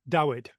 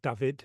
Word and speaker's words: Dawid: Paradise Undone, a novel of Jonestown by Annie Dawid. I'm yeah, presuming it's Dawid, not David, because it's spelt with a W, who is, she teaches creative writing.